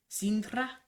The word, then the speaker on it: Sintra: You gotta roll your R. Sintra? There you go. Okay. You just like it because I can trill R's. It's so funny. No, that's how you pronounce it.